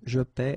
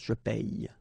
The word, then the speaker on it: paie: it's quite funny because we tend to make the difference maybe in pronunciation. So between this one, je paie, and then some persons can pronounce je paye. Okay, tu paies, tu payes, il paie, il paye.